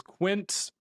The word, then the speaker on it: Quince: team, sent an email that I was pronouncing it wrong. So I understand that it's not the Spanish word for 15. It is Quince.